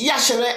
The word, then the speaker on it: Yashere: And my name is Yashere, and that's how it's pronounced, Yashere. And it's actually spelt Iyashere. But when I started doing comedy, they kept mispronouncing the name and pronouncing the I, which is almost silent.